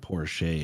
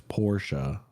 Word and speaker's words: Porsche: Is it Porsche? No, it's not Porsche. It's Porsche. Porsche.